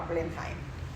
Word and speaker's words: Blenheim: Por esto es que el palacio en Londres se llama Blenheim. ¿Puedo decir cómo se pronuncia?